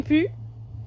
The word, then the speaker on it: plus: J'en ai plus. Et le plus ici se prononce beaucoup pu j'en ai pu. OK. Donc on enlève le L.